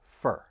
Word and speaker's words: for: For pronunciation, keep in mind that the word for often gets reduced, and that vowel sound's going to change slightly. So instead of for, it's going to sound like fur.